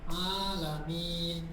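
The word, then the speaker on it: العالمين: Alamin. Harus panjang kalau alamin salah.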